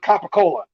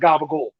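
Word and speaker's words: capicola: it's a lunch meat uneducated folks who aren't from north jersey will call it copacola that's not that's not the right way to say it i'm sorry okay all you got to do is go turn on the sopranos for five minutes and you'll know that it's called gabagool and that's that it's a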